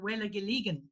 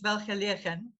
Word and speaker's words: Welgelegen: And, you know, when I first came to South Africa, I didn't know how to say it. So I used to call it Welgelegen. Okay. Yeah, but now I know it's Welgelegen.